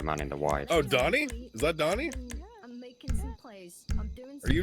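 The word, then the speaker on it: Donie: My name is Donnie, not Donnie. Well, it's spelled D-O-N-N-I-E, right? No, it's got one N in it. Donnie O'Sullivan, like Donald.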